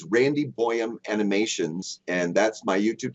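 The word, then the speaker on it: Bøyum: cool and that's Randy boam B Yu M just so you spell that correctly it's like goam except he's Norwegian so it's boam and uh and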